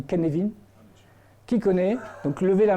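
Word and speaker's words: Cynefin: fait successives qui connaît alors ça s'écrit cinéphiles mais ça se dit ken levine qui connaît donc levé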